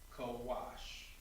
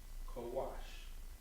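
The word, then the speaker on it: Kawash: this one will be with the soft cot as well co-wash so in the english it's going to be spelled out k a w a sh co-wash now looking at this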